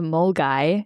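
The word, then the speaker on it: Milngavie: Like you can find it in the first town, which is called Mulgy. If you were to read the spelling the way Mulgai is written, it's a completely different way to how I'm pronouncing it right now, which is always a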